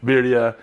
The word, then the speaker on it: birria: ernie knows what's up he knows how to pronounce it viridia we're gonna do it in the ninja foodie